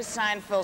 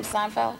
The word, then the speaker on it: Seinfeld: Well, when Jerry Seinfeld signed off, is that how you say his name? Seinfeld.